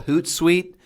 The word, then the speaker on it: HootSuite: use a system called hoot site um it sounds exactly it's spelled exactly like it sounds and then you can actually use HootSuite to automate all your